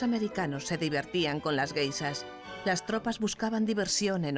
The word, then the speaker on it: geisha: Los soldados oyeron hablar de las geishas, guisas, como ellos pronunciaban, y creyeron que las chicas que se acostaban con ellos en los parques eran guisas.